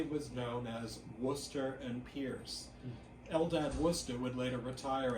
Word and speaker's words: Pierce: pictorial drawing room companion Samuel Stillman Pierce which would be pronounced purse after 1836 opened his